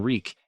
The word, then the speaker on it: Reek: in his throat reek I'm wreak it rhymes with squeak he had to forget